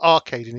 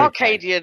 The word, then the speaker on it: Arcadian: think I've been mispronouncing it's not arcading it's okay is it Acadian sorry Arcadian is very yeah future game yeah yeah so Arcadian apologies um right uh